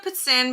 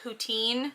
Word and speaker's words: poutine: and i okay so i called it a pet sin because i say it like you're supposed to but you will probably hear more people call it poutine like p-o-u-t-i-n-e um it